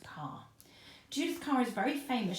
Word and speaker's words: Kerr: Now I thought her name was pronounced Judith Kerr, but I found out recently it's actually a German name and it's pronounced Kerr.